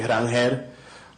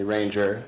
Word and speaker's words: Rangel: So my name is actually Rangel, but however you guys want to address me, Ranger, is how most people do, so I'm comfortable with either.